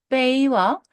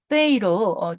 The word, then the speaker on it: 背: 베이는 일성 베이와 사성 베이로 두 개의 발음을 가지고 있습니다.